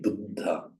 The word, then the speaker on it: buddha: You can imagine here that it means Buddha and Buddha, but she deliberately held that sound before releasing it, as in bubbe, not bubbe, but bubbe.